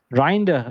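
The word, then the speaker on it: Reijnders: pronounce his name. And Grinder. Reinder.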